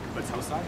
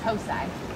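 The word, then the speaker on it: Battousai: And how do you pronounce that again? Batosai. Batosai.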